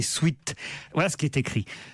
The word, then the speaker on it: sweat: En anglais, sweat parfois raccourci en sweat, souvent prononcé sweat.